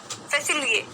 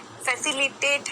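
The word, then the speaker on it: facilitate: फैसिलिएट, फैसिलिएट, फैसिलिएट, फैसिलिएट, ठीक है, फैसिलिएट नहीं है, फैसिलिटेट है।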